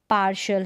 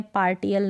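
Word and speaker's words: partial: जैसे कि पेशेंट है, रेशो है, उच्चारण यहाँ पर दे रखा है, रेशो है, पोर्शन है, और पार्शल है, क्या है, पार्शल है। अब इसको पेटेंट नहीं पढ़ते हैं, रेटो नहीं पढ़ते हैं, पोर्टन नहीं पढ़ते हैं, पार्टियल नहीं पढ़ते, यानी टी को हम ट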